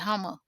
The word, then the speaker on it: Houma: The Hummers is people in Louisiana know that Homer is spelled Houma, but the people in Homer pronounce it Hummer.